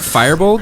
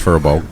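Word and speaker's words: Firbolg: Is that how you pronounce that? Firebolt? No, it's Furbolg.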